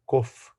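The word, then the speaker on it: קוף: Então, qual a ligação com a letra Kuf, que a gente falou que é a letra do alfabeto que representa a letra do mês? Então, Kuf em hebraico, original, o certo seria a pronúncia desta letra Kof.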